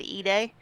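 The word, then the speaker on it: Ide: Joe um it's called it's spelled eyed but it said eay um what is it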